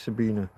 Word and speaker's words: Sabine: This is a whole uh Sabine Hosen Felder. Sabina Hosen. It's spelled with an E but pronounced Sabina.